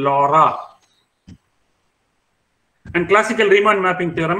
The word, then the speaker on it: Laurent: Laurent is not the correct pronunciation, Laura.